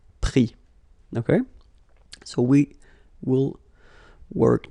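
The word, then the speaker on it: pris: Same thing here. Final S not pronounced, so prendre, prix.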